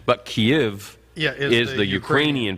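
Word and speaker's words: Kyiv: kiev depending on k-y-i-v yeah if you say kiev that's the russian pronunciation but kiev is the ukrainian pronunciation so kiev is what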